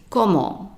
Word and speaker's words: comment: The t at the end of a word is usually silent, so it's comment, comment.